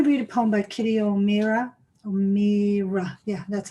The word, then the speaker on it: Kitty O'Meara: I'm going to read a poem by Kitty O'Meara. Yeah, that's how you pronounce it.